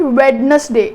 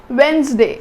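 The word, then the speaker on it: Wednesday: इट्स नॉट वैडनसडे, इट्स वेंसडे, इट्स वेंसडे। मतलब इत्थे डी की है साइलेंट, इट्स वेंसडे।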